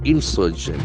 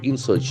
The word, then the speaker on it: insurgent: band M Insurgent body Insurgent i n s u r g e e NT it's a beautiful word cannect as noun and an adjective Insurgent Insurgent Insurgent that falls on the second Insurgent Insurgent someone who